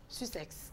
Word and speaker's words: Sussex: Je crois que ça s'écrit S-U-S-S-E. Deux S-E-X. OK. Sussex.